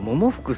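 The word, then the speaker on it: 百福: と服っていうこれね桃服って読むんですけどこれは中国の中国語のね名前だそうですえな中国でバ 4 っていう風に読むバ 4 かなそんな感じ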